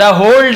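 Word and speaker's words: whole: द होल डे, इसे होल पढ़ेंगे, W silent होता है, होल डे यानी पूरे दिन, लेकिन लिखते समय लिखेंगे पूरे दिन कड़ी मेहनत करता था।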